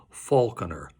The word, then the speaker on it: Falconer: falconer by the way I prefer the pronunciation Falconer it sings better from a formal standpoint